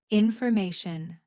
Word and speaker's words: information: Information. Stress is on the third syllable.